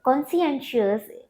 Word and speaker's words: conscientious: The spellings of this word often confuse the young learners as they tend to pronounce it as conscientious, but it's conscientious. Conscientious is an adjective that